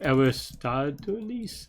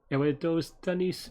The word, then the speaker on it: Eratosthenes: I did it with SIF, but of Aristoteles. I always say it wrong. Look, you have Google. I have Google too. Hang on. That actually is someone else, but apparently, Eratosthenes.